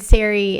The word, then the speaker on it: Sari: would read my name a lot of people pronounce it sorry it looks kind of like s a r i looks like it might be pronounced with the uh what is it short vowel sound s uh and Siri is how you pronounce it so I've been saying it's Siri not sorry forever and so s not